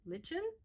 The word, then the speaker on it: lichen: Lichen?